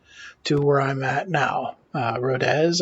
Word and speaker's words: Rodez: Rodez, I believe is how it's pronounced.